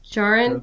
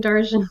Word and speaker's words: Djarin: Jaren, yeah, like Din Djarin, Grogu Jaren, yeah. I've been saying Din Darjin this whole time. No, the D is silent. Come on, this Is Mandalore it? Oh, 101. that's Yeah. annoying. Just take the D out.